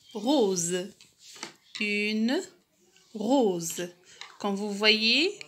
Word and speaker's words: rose: La lettre S se prononce Z lorsqu'elle est placée entre deux voyelles, comme par exemple le mot rose.